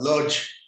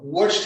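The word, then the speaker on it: Łódź: we would pronounce this uh given an english pronunciation and call it lodge uh in polish it's pronounced uh watched had a population of about 205 thousand uh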